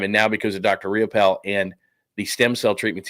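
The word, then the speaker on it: Riopel: Riapel or real simple. All you have to do is just Google it. If Google it, just look it up. Whatever is your favorite uh search engine of choice, Riapel is spelled R I O P L E.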